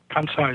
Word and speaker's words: Kansai: But they have a group called the Animal Rescue of, maybe you can tell me how to pronounce it, Kansai, Kansai? Kansai, yes.